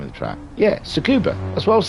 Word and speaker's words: Tsukuba: can only be described as a very wet scuba. Tsukuba? Am I saying it right? Let me have a look. What's the track called? Where would it say the name of the track? Yeah, Tsukuba.